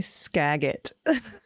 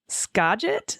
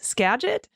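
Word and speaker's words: Skagit: I almost choked on my coffee hearing ag say Scaggot. That lovely area is pronounced Scadget. Scadget.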